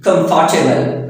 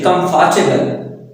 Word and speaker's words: comfortable: Again, comfortable, comfortable. It is the careful pronunciation, comfortable. But native speaker, how they say?